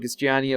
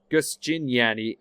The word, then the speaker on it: Giustiniani: Gimignano, Giustiniani, of course. Giustiniani. I've been missing an entire syllable there.